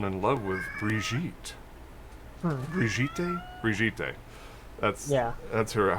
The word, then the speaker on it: Brigitte: But yeah, the the e at the end is not silent.